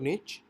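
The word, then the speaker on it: niche: भी चेक करनी है निश मींस आप इसको इस तरह से प्रोनाउंस कर सकते हैं निश और निच और इसका जो बेसिकली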